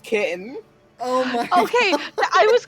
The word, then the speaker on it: Ktjn: Yeah, it's pronounced kitten. Also, hey Gordon, hey, play Fire Emblem Awakening. Well, okay. Pronounced kitten in English, Katrine in Italian.